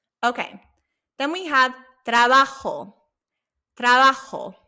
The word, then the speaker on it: trabajo: Trabajo. Remember that J, we learned that sound makes an H sound.